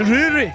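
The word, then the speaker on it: Rorie: And your pronunciation is Rory.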